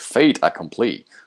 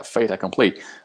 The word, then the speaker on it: fait accompli: say, but it's like they try to say like fate accompli. Of course, it's not like a typical correct French pronunciation, but yeah, but there are many French phrases in English, and so the pronunciation very often differs, but it's something like, yeah, fate accompli.